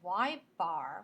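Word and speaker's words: ȳ: going to freak out it's Y Bar which is how we pronounce that y with a dash over it and we use that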